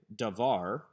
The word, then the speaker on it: davar: from the tone syllable davar is not a segalet since the emphasis is on the second syllable da var but the patterns of